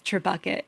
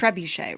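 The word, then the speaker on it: trébuchet: And we kept referring to it as Tbucket until finally someone who satis was like, "That's not how you say it." Yeah. It's a French word though, so I mean I guess it's trebuche, right?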